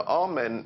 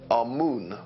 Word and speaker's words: Amun: Now, Amen is the pronunciation that the Hebrews give it, and some scholars agree to use that pronunciation. Amun is the pronunciation given to it by one of the old European scholars, Plutarch. In the language of Kemet, the word for hidden is Imen, or Amun is the way that we put it in English.